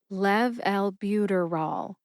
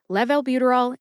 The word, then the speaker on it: levalbuterol: buterol emphasize Lev and bu officially gets the most emphasis see if you can hear the emphasis when I say it slowly Lev Albuterol let's move on to